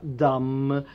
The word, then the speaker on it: dumb: So we say they are dumb.